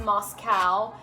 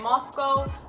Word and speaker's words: Moscow: It's not pronounced Moscow.